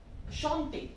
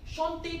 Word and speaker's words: chante: Okay, so, chanter, chanter to sing. So with il, elle, plural, what's the conjugation? Chante, present tense conjugation. Right, so now let's write it. Again, don't pronounce it like chant, it is chante.